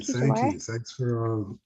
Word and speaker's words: Jamar: Yeah, I think my mother did that on purpose to kind of accentuate the R at the very end. And so for those of y'all who from Chicago know that there's no R in our language. And so to say my name in Chicagoan is just Jamar. And so the R is not ever pronounced.